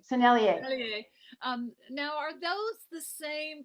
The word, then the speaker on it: Sennelier: The Seigneur, how you ever say it right? Sennelier. Sennelier.